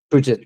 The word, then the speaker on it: Puget: So unless it like so, I don't know how you pronounce that. Puget or Puget? Puget.